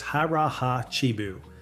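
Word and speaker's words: hara hachi bu: This one is called harahachibu, pronounced harraha chibu.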